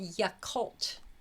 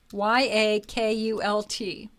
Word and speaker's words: Yakult: It's called Yakult. Um, I'll spell it for you. Y A K U L T.